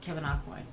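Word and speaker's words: Kevyn Aucoin: by the amazing late kevin aquin aquan i'm probably saying that wrong and i'll fine no that's how you say it kevin aquin who was a huge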